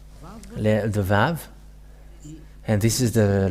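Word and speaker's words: ו: The Vav. And this is the letter Vav. This is the Vav. The way to read this is V as in Vag. So V, that is how it is read.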